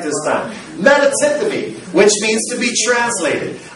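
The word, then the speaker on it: μετατίθημι: The word translated is metatithemi. I pronounced it right this time. Metatithemi, which means to be translated.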